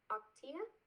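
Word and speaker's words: Ocotea: don't know how seed troll um the ingredients octia that's how you say it i'm sorry guys but it is a unique ecuador source essential oil doctea um this one has lime lavender cedarwood and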